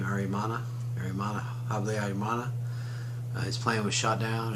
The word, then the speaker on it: Habyarimana: Habyarimana, I believe is how you say his name, Habyarimana.